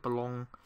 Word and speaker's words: Boulogne: So we played Boulogne, I think that's how you pronounce it, Boulogne, this acronym, in the Europa League.